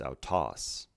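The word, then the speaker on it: αὐτός: be our toss but since the second syllable is emphasized it's our toss now let's go to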